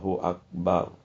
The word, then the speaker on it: akbar: itu ee ketentuan lainnya huruf ro dibaca secara jazam sukun Ro Jadi ujungnya dibaca bar artinya tidak boleh didomahan ya jangan Allahu akbar jangan sekalipun ditulisnya baru ya baru tapi ee dibacanya sukun dimatikan saja Allahu akbar inilah tata cara melakukan